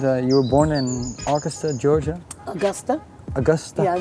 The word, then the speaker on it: Augusta: Uh, you were born in Augusta, Georgia. Augusta. Augusta. Yeah, it was like August. I know. Augusta, that's the proper way to pronounce it.